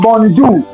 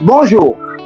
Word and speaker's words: bonjour: So it's not bonjour, it's bonjour.